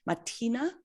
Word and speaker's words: Mathina: on the film adaptation, we've been working with an Indigenous expert who pronounces it a little differently, Matina, I believe, but I had always heard it pronounced that way. So for the moment, I'm going to continue calling it Mathina.